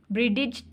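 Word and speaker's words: bridge: क्या चीज साइलेंट है ब्रिज में डी डी साइलेंट है ब्रिज तो नहीं बोल रहे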